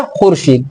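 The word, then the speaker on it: خورشید: पढ़ते हैं हम क्या खुर्शीद तो ये वाव मादु वो होती है जिनका वाव लिखा जाता है पढ़ा नहीं जाता है साइलेंट होता है वावे अत किसे कहते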